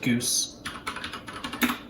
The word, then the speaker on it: GOOS: and go it's just goose and that is how you print out go os so this is how you set the go operating system but we pronounce it goose and then we have